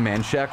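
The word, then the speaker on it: Manchaca: The school lies on Man Shack Road, spelled M-A-N-C-H-A-C-A.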